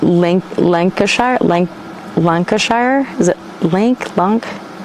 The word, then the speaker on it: Lancashire: already stressed about that just like hampshire lancashire lancashire lancashire sure like not shire sure hampshire hampshire link uh sure